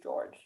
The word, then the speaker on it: George: they asked or just george it's just george because that's george because it's french george i wanted to